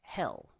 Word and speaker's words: Hel: goddess hell uh yeah that is actually her name but it's not spelled like the place um that we think of punishment in christian um christian thinking certainly the idea of heaven you know heaven hell and perhaps purgatory if you're if you're catholic um hell in this case is spelled with uh just one l so it's h-e-l and hell is as